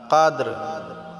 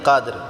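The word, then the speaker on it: قدر: তাহলে কাদরি ওয়ামা হবে যদি আমরা এখানে ওয়াকফ করি থামি তাহলে রাটাকে আমাদেরকে সাকিন করতে হবে কাদর লাইলাতুল কাদরমাটা আমরা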